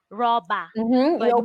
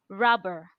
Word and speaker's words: rubber: the world in Nigeria you hear someone say rabba raba it is not yeah you open your mouth but no you close it rubber rubber right right and